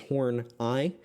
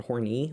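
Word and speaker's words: Horney: more i was reading about her uh karen hornai and if you have trouble pronouncing that right it's horn i um not horny or hornay as i was saying um what i found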